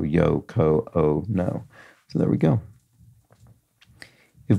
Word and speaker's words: Yoko Ono: so a long o because her name uh contains four examples of a long o yo Co o no so there we go